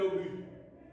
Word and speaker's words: obus: On dit un obus. Le S ne se prononce pas.